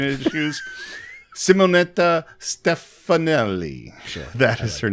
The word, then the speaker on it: Stefanelli: thunderbolt oh man apollonia this is uh simonetta stefalani stefano stefanelli okay i just talked about my pronunciation issues simonetta stefanelli that is her name yeah um and she